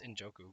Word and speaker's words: Njoku: I think it's Njoku, but And I still think he's got potential as being a great tight end.